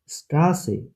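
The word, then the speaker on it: Straße: Double S কে বলে এস সেট, স্বর মতো উচ্চারণ হয়, যেমন স্ট্রাসে, স্ট্রাসে, স্ট্রাসে, রাস্তা।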